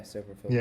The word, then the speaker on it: Silverfield: Yeah, Silverfield.